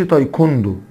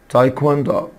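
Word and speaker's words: taekwondo: تايكواندو تايكواندو حبايبي لاحظ إن الدبليو هنا منطوقة، يعني ما أقولش تايكوندو، no it's تايكواندو.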